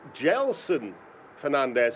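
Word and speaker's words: Gedson Fernandes: to the Premier League gelsin Fernandes that's how I'm told you pronounce his name despite the spelling paraded in at Optima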